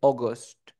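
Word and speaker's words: August: agosto agost ya agosto Recuerda que el 80% de las palabras que tengan la a y la u suena como o por eso dice aust aust aust aust aust septiembre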